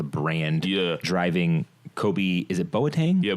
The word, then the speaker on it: Boateng: Kobe, is it Boateng? Yeah, Boateng.